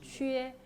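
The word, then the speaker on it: 缺: 발음 은 "quē" 입니다 .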